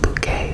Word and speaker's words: Bucket: I sense Bucket insists her name is pronounced bouquet to sound B.